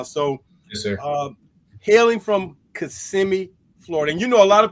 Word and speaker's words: Kissimmee: Hailing from Kissimmee, Florida, and a lot of people mispronounce that name, Kissimmee, but it's okay. We know in Florida it's Kissimmee.